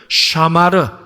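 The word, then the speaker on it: שמר: 쓰는 말은 아닌데 삼 갈지어다 무슨 뜻입니까 물에는 샤마르 이렇게 발음을 하는데 원래는 울타리를 치다 이런 뜻이에요 여러분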